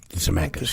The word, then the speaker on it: Zemeckis: Zemeckis? Zemeckis, yeah.